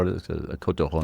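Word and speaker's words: Côtes du Rhône: How am I mispronouncing it? Côte de Rhône. See, you're just doing a good job. C'est Côte du Rhône. Côte de Rhône. Côte du Rhône. Yeah. Yeah, it sounds better when the French say anything.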